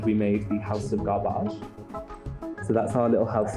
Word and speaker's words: Garbáge: now it's tonic garbage it's spelt garbage but pronounced garbage so it's like taking trash and making elegance